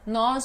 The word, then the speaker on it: nós: Nós nos deitamos às 10 horas. Nós nos deitamos às 10 horas. Tem diferença de pronúncia, nós e nos.